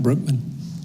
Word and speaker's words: Brookman: Brookman. Did I pronounce that right? Brookman.